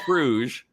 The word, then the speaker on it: Fruge: It's Fruge, which is we French answer to whatever or Cajun or it's Cajun French.